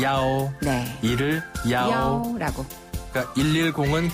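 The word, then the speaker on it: 幺: 숫자 치가 발음상 좀 비슷하게 들리거든요 그래서 오라고 발음해요 예 야오네 이을 야오 야라고 그러니까 110은 경찰이니까 야오야오 링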